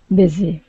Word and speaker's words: busy: beginning okay transience and give me a short eye on busy instead of buy busy busy that's it okay very good job